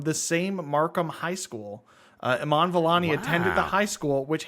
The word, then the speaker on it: Iman Vellani: Like, even just the actress Iman Vellani, am I pronouncing that correct?